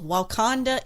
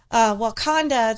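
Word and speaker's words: Wauconda: It said, Black Panther fans keep bothering the people of Wakanda, Illinois. Okay. And that's spelled W-A-U-C-O-N-D-A.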